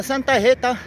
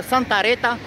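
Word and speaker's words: Santa Rita: حتى للمدينه اناحد المدينه اخت بالبرتغاليه كسمى سانتا هيتا الاسبانيه تقدر تنطقها اخويا سان ريتا اما بالفرنسيه ك تنطق سان غيتا سانتا ح فرونسي كقول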